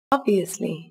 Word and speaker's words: obviously: Các bạn chú ý mở miệng và bật ra âm O, dứt khoát và rõ ràng nhé. Lưu ý cuối cùng đó là từ này có chứa âm S ở phần giữa từ. Các bạn phát âm rõ ràng và đầy đủ nhé.